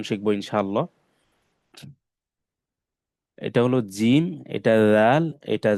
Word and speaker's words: جيم: এটা হলো জিম, এটা দাল, এটা ঝা। জিম বেশি শক্ত করে পড়তে হবে, জিম এভাবে।